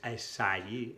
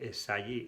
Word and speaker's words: essayer: Y aquí la A no se pronuncia A. No es essayer, essayer es E.